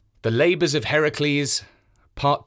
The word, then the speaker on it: Heracles: next 6 adventures of Heracles, the strong man of the ancient world. As I mentioned last time, he is sometimes called Hercules in Roman stories, but we are using the Greek pronunciation.